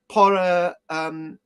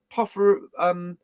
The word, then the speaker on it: porphyry: You spell it out and you get the word.